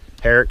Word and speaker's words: Harrick: Is it Harrick or Harrick? Or Harrick. Harrick, see? Yeah. I nailed it. We needed to clarify that so folks know how to say it correctly.